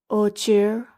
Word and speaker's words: ocher: Ocher? Ocre? Okay, so it pronounces ocher. Oak.